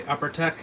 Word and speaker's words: UPRTEK: that's with my spectrometer by UpperTech. That's spelled UPRTEK if you're interested.